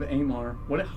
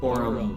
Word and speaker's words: Aurum: Over the hill, the army of Amar. How do we pronounce this? Aurum.